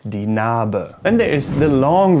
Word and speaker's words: Narbe: And there's the unpronounced version, for example, if the E is at the end of a word. For example, in the German word Narbe, die Narbe, die Narbe, die Narbe, the scar, die Narbe.